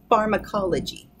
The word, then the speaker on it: pharmacology: four five five syllables pharmacology and here's the pronunciation pharmacology that a is being controlled by the our